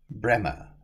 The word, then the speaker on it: Breamore: and picturesque village of braymore pronounce it bremer if you wish to please the locals besides of a flint